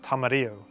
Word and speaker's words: tamarillo: to pronounce this because everyone that I've ever heard has called these tamarillos and even when you look online at the pronunciation you would find tamarillo but if it was from Modi and Spanish words then it really should be tamario Tama being the Modi part of the word and